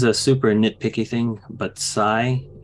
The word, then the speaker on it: Psi: super nitpicky thing but Sai it's spelled PSI as in like psychology or psionic uh superpowers but he's a cyborg not a which would be see why so I'm like again that's